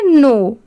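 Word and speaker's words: know: इसे हम क्या पढ़ेंगे नो। ठीक है? यहां पर भी के लेटर साइलेंट है। सिर्फ हम नो पढ़ रहे हैं। यहां पर डब्ल्यू भी साइलेंट है।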